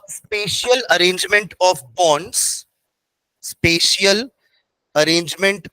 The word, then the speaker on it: spatial: Preserve, preservation of द स्पेशियल arrangement, स्पेशल नहीं है ना, स्पेशियल है, स्पेलिंग क्या होगी? SPATIAL, नॉट SPECIAL, वो तो स्पेशल हो गया।